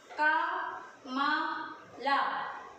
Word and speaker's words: कमल: And next मा, and next letter ला, का मा ला। कैसे इसको प्रोनाउंस करेंगे, का मा ला, कमल।